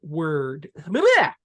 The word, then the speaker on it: Wyrd: It's spelled W-Y-R-D. So it's like ward or wired, you know.